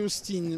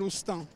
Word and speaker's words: Austin: sommes pas en Angleterre en Angleterre il se serait appelé Austin mais en France il s'appelle Austin on le prononce à la française ah bon la marque